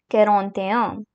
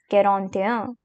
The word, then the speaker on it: quarante-et-un: Here we have the first number of our video, that is 41, which is quarante-et-un. quarante-et-un Do remember that I'll be pronouncing the French pronunciations two times so that it would be much more clear for you.